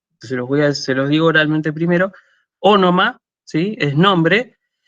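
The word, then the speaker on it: ὄνομα: Bueno, nombre en griego se dice ónoma, ¿sí? Así como suena con las dos veces con Omicron, ahora lo escribo en el chat, pero se los digo oralmente primero. Ónoma, ¿sí?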